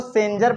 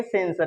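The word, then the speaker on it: sensor: बगल वावेल है तो इसको सेंजर पढ़ेंगे कि सेंसर पढ़ेंगे ये इसको पढ़ेंगे सेंसर क्या पढ़ेंगे सेंसर एक वर्ड और है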